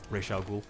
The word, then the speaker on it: Ra's al Ghul: Yeah, I mean certain people mispronounce his name. Ra's al Ghul.